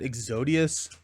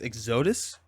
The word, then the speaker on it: Exodus: I was calling it Exodius, I think it's Exodus.